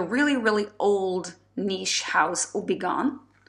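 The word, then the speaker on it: Houbigant: really old Niche house obon it's spelled with an h and ends with a T but those are silent and French obon and this is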